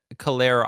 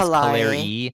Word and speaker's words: Callari: I think you said Callera. I don't remember what you said, but it is Callari. Callari. Callari is how you pronounce it, but it sounded like a mix Callari.